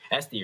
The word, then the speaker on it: Este: You told me to call you Este. Este, right? Este, yeah.